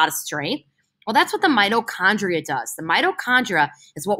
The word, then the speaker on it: mitochondria: This is called mitochondria. Say that with me. Mitochondria. Mitochondria, it sounds like the word mighty, right?